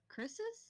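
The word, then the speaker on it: kris: a chrs a chrysus Chris's yes they're like zigzag knives oh okay it's it's I'll put I'll type what it's spell it's pronounced Chris like our friends Chris Chris Chris if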